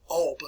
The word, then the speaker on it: Alba: as the duke of alba or alba if you want to pronounce it that way it kind of sums